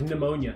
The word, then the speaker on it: pneumonia: Silent letters have always pissed me off. Like pneumonia.